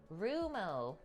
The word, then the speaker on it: Rummo: comparison though rumo see we have had it wrong rumo the stress is typically on the first syllable leave it to me